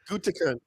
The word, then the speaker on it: Gutekunst: Gutekunst.